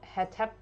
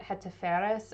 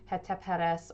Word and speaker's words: Hetepheres: I was saying it Hetepheres earlier, and I actually looked up how you're supposed to pronounce it, and it was completely wrong. So it's something like Hetepheres or Hetepheres. I don't know if you can even sound the difference between those two.